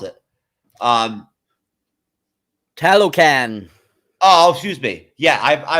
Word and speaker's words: Talokan: I just feel stupid even trying to pronounce it. Talokan.